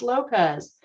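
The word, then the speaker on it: López: another example I said my name was Lopez technically my name has an accent over the first syllable which is placed over the O most people who have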